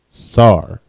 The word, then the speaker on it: sar: And the word that means turn in Hebrew is sar. All right. And sar is spelled sa and ra. The sa and ra connect. You got sar.